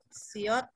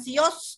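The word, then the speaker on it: 시옷: Huruf siot ini seperti S ya, nggak ada beda pelafalannya, sama persis kayak huruf S ya. Siot, siot, siot, siot. Ya, dia kalau di depan seperti huruf S dibacanya, tapi kalau dia jadi akhiran maka jadi huruf T, mati ya. Bukan sios, tapi siot gitu ya, siot.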